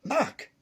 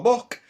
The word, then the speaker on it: Mac: Scottish and Irish, and it is pronounced Mac, not Mick or Muck.